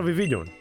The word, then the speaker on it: Vivillon: But before that, I returned to the rooftops and caught a Vivillon. Yes, that's how you pronounce it.